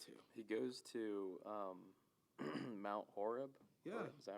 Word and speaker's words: Horeb: He goes to Mount Horeb. Yeah. Is that how it's pronounced?